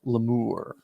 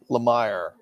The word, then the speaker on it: Lemire: It's pronounced Lemure. Lemire.